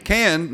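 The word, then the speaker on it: Cannes: okay so it's cancer can no no it's not plural no the s is silent that's a film festival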